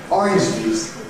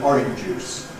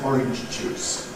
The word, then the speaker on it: orange juice: But orange juice is the way we say it. By the way, notice it has double j in it. Typical foreign mispronunciation, orange juice. No, it's got two j, orange juice.